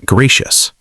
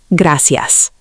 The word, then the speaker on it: gracias: Many learners pronounce gracias like gracious. More natural pronunciation, gracias.